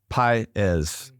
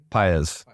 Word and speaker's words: Paez: Paez. Paez.